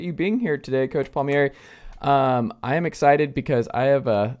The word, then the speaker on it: Palmieri: a lot of them have a hard time pronouncing Paul Mar but I most people call me coach pal Mar players call me Coach okay well I appreciate you being here today coach pal Mar um I am excited because I have a